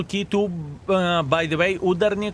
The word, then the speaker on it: Udarniy: Uh, by the way, udi correct stress on the second syllable.